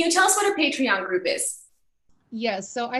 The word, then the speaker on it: Patreon: a patron group is is it patron or patreon patreon listen you guys already know um okay can you tell us what our patreon group is yes so